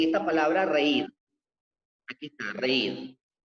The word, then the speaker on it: reír: Aquí está, reír. Reír es bisílaba, pero termina en R y está acentuada.